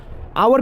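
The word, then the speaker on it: hour: आवर में क्या बैठेगा, आवर में भी सेम टू सेम, इसमें भी क्या बैठेगा, एन बैठेगा, क्योंकि एच जो है वो साइलेंट रहता है।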